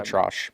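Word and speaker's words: ElAttrache: Neil, I always mispronounce his name. I've heard Atrashi now again. Elatrosh.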